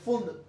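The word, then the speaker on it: Pfund: करने वाले साइंटिस्ट थे फुंड। पी यहाँ पर साइलेंट होगा, तो हम अब डिस्कस कर रहे हैं फुंड सीरीज।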